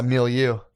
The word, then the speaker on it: milieu: beyond my fucking my milieu.